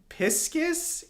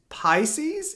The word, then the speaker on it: Pisces: finished and be proud We so supportive pis piscus is Pisces is it pi oh it's pronounced Pisces that's stupid did you piscus no